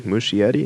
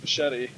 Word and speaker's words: Muschietti: Muschietti? I think it's just Machete. Machete? Andy Muschietti, just like not like Muschietti. I think it's just Andy Muschietti. Mush Eddie.